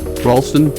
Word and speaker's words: Ralston: minute is are um Allison Cohen and Dan Ross ralon am I pronouncing that right Dan y Ralston okay uh we're going to get to them